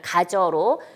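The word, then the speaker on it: 가져: 자, 가지어가 이제 우리가 실제 발음할 때 가저로 용언의 어간과 어미 활용해서 가저로 되죠.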